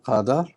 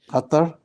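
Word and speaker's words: قطع: Now I have, again, Hamzatul Qatar. Qat'. Qatar. Like Qatar. No. Qaf, ta, ain. Qat'.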